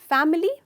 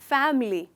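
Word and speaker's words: family: फैमिली? नहीं, इसका सही प्रोनाउंसिएशन है फैमिली। फैमिली, इसमें इस वर्ड में सिर्फ 2 हिस्से हैं।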